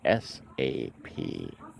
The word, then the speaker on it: SAP: on the first day it is called s-a-p yes it is not an acronym a pronounceable acronym it is an initialism its initialism now except that's when it's